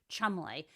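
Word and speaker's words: Cholmondeley: She's Rose Hanbury, and she married a much older gentleman, the Marquez of Chumley. Anyway, so apparently there's a big. Chumley? It's spelled.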